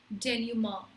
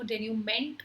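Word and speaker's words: dénouement: So ये जो word है इसकी प्रोनाउंसिएशन है डेन्यूमा। डेन्यूमा इसकी सही प्रोनाउंसिएशन, आई नो डेन्यूमेंट होना चाहिए लेकिन नो, इट्स प्रोनाउंस एज डेन्यूमा।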